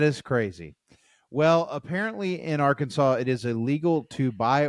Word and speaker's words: Arkansas: because of this um it is illegal to mispronounce the name of the State Arkansas yeah I see that it has to be Arkansas yeah not Aransas oh my gosh or Aransas yes really I have heard